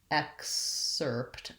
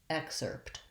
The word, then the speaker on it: excerpt: and so for excerpt i'm going to think about it as x and then erpt or excerpt the s is kind of links those two syllables so i want to make sure i have my tight american r sound er excerpt and an excerpt is